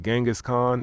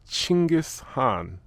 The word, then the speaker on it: Chinggis Khan: And I just learned that I've been pronouncing his name incorrectly. To all the Americans, we've been saying it wrong. It's not Genghis Khan, it's Chinggis Khan.